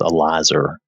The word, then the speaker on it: Eleazar: From what I could find quickly, it seemed like Eleazar was the correct pronunciation. There was another pronunciation that was Elazar. I'm not sure that it matters that much, but I think Eleazar is probably correct.